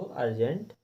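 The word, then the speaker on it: urgent: यू को आ पढ़ेंगे, ऊ ना पढ़ करके आ पढ़ेंगे, इसीलिए हमने इसको अर्जेंट पढ़ा है।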